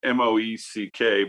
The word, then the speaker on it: Moeck: I mean, I have they're pronounced Mick, I think, but it's Moeck, Moeck or Mick.